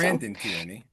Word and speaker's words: Brandon Tierney: Smith, Max Kellerman, and Braden Tierney. Is that how you say it? I think so. Brandon Tierney, BT.